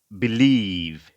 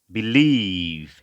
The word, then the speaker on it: believe: পরবর্তী শব্দ আমরা হচ্ছে believe, believe, হ্যাঁ, বি শর্ট ই, বি, এবং স্ট্রেস হচ্ছে লিভের উপরে, এলের উচ্চারণ ল এবং লং ই, বিলিভ, বিলিভ, এরকম উচ্চারণ হবে।